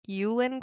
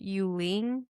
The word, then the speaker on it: Yuling: So and I heard Emily Henry say, we've been saying Yulin Kwong, or I have at least, but I heard Emily call her Yuling. Oh, Yulene. Yuling. Yeah, now I'm already I'm doubting myself now, but we've been saying it wrong.